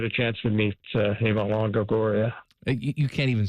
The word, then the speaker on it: Longoria: Well, I did look for uh uh Miss Lori uh Lagoria while I was in Barcelona. Okay. But unfortunately, I didn't get a chance to meet Eva Longoria.